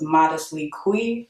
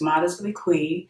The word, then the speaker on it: ModestlyQue: my name is my channel name is pronounced modest weekly because I know a lot of people say - the cute but it's modestly clean and I like to